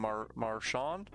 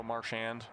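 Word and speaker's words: Marchand: We used to call him Marawn, more French way to say it. And a few years ago, he just officially declared it's now Marshand here.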